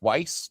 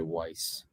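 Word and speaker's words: Weisz: Not WS. I would say Weiss in that situation.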